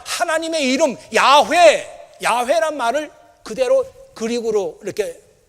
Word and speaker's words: 야훼: 이 그릭은 히브리 말로 야훼라는 말이 있어요. 야훼. 히브리 말로 야훼. 야훼라고 하는 말은 뭐 새로 번역된 성경에는 야훼 이렇게 많이 나오는데 옛날 성경에는 여호와 이렇게 나오죠. 여호와. 같은 말이에요. 발음이 좀 다르다 뿐이지.